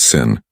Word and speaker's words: Samhain: And the most powerful day of the year was October 31st, the night of the festival called Samhain, pronounced Sin.